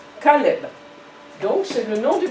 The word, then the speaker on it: Caleb: L, une maison, B, mais comment prononcer? Club? Non? Caleb.